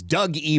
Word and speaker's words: Doogie: Thank you to Doogie Boston as well, who says, "It's Doug E. Boston."